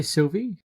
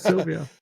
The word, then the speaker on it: Sylvie: It's not Sylvia.